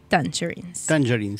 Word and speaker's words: Tangerines: vale vale por muchísimo la pena bueno bueno tangerines no así se pronuncia tangerin tangerin bien bueno una muy buena película para disfrutar